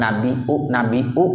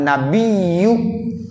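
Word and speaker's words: النَّبِيُّ: Ayyuhan nabiyyu, ya harus ada tasdidnya.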